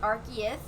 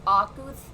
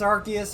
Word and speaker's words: Arceus: it is actually just arceus but yeah i've watched too much mj tv so i'm starting to pronounce it oculus because it's i think it's supposed to be based off of arc and zeus from a video i